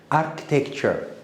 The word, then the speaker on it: architecture: Architecture, CH again, architecture. You will pronounce CH as K.